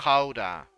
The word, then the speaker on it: Gouda: It's not called Gouda cheese. It's called Gouda cheese. Gouda. I will blow your mind probably right now. Like we don't have a soft G in here in Holland. We have that. You pronounce it like a G.